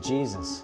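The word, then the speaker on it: Jesús: who are you really who do you say man hey soos most people pronounce it Jesus can we get some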